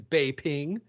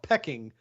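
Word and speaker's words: Beijing: pecking no the name of the city is Bay ping but here in America we call it pecking because then like nobody corrected this oh sure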